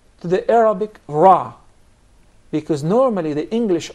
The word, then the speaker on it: ر: I wonder, this letter for the English speakers is pronounced totally different, from a totally different articulation point than the letter Ra in Arabic.